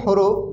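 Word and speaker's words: ح: ভিতর থেকে আসছে হা কিন্তু এই হা উচ্চারণ একটু ভিন্ন হা এটা একটু মোটা হবে হা গম্ভীর আওয়াজ হা এখানে আপনি হা বললে হবে এই এই হা কে উচ্চারণ করতে হবে হা এবং লেখার ক্ষেত্রে এই হার লেখা হবে এইরকম হা একটু মোটা আওয়াজে মোটা আওয়াজে পড়তে হবে হা হামজা আলিফ এবং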